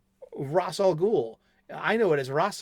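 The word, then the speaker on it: Ra's al Ghul: It's not Raish Al Ghul. It's not Raz Al Ghul. It's Ras Al Ghul. Roll your R.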